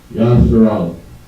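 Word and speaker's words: ישראל: And in the Hebrew, it is pronounced Yasharal. Alright.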